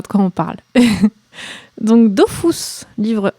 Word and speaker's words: Dofus: Il y a plein de gens qui disent Dofus, apparemment officiellement d'après Todd, je crois, donc l'un des co-créateurs d'Ankama. C'est comme ça qu'on prononce aussi dans le film, donc je me suis dit que ça devait être la prononciation officielle.